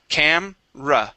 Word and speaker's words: camera: camera okay the uh the uh e there in the word is actually um omitted okay or we do not pronounce it okay uh we say